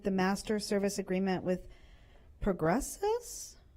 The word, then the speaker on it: Progressus: provided in with the master service agreement with Progressus? How do you pronounce that?